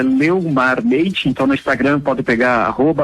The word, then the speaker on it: Meith: meu nome é Leomar Meite, então no Instagram pode pegar @Leomar Meite. O meu sobrenome se escreve M-E-I-T-H, Leomar Meite.